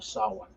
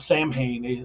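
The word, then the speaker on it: Samhain: as the Festival of Sawan it spelled Sam Hayne s-a-m-h-a-i-n but uh as all things Celtic it is certainly not pronounced that way like uh the phrase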